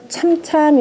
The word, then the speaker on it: 漸漸: 잠잠이라고 하는 건데, 여기서 우뚝 솟았다라고 할 땐 대체로 참참 이렇게 발음을 해요.